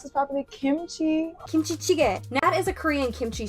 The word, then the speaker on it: kimchi jjigae: And how do you pronounce this properly? Kimchi? Kimchi jjigae.